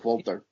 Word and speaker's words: Walter: think W is awesome because that's how he pronounces his name he's German he pronounces it wter pronounce it watch it